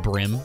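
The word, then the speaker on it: bream: one of my streams that apparently it's not pronounced breem it's pronounced brim i've been calling it a brim my whole life oh this could be a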